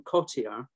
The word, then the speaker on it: Cottier: So I'm going to use the pronunciation Cotier.